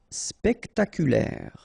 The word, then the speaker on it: spectaculaire: Spectaculaire. Okay, so don't insist on the final E.